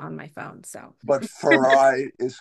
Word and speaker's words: Farayi: I'm calling Farai, but I hear that you say Farah. So what's the deal? My name is Farayi. My birth name is Farayi, but I went by Farah my whole childhood.